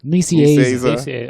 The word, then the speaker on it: Nicieza: Nicieza.